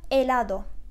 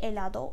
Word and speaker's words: helado: Dondurma İspanyolca'da helado. Helado diye yazılıyor gördüğünüz gibi. Lütfen telaffuz çalışmasını yapın.